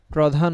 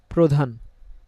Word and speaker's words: প্রধান: কি বলবো প্রথা আমরা প্রধান বলবো না কি বলব প্রধান খেয়াল করে দেখেন সবগুলোতেই অধনি মানে আকার রসিক দীর্ঘকার কিছুই নেই এবং তার সাথে রফলা শব্দের শুরুতে তো সেজন্য অটা ও এর মত উচ্চারণ হচ্ছে তাহলে আপনারা